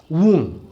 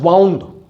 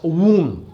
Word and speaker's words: wound: वून, इसका correct pronunciation है वून. सम ऑफ यू I have noticed have been pronouncing this वर्ड एज वाउंड. वाउंड बोलते हैं आप लोग, वाउंड नहीं है, दिस इज प्रोनाउंस्ड एज वून.